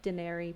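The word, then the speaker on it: Dyneri: this hybrid word of based off dinero daenery but it's spelled d-y-n-e-r-i because you know you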